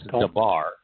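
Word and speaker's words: דבר: When we pronounce it as debar, understand that it's just three letters.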